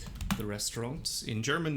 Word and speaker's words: Restaurant: Das Restaurant. The restaurant. In German, we don't pronounce the T on the end because this is a French loanword.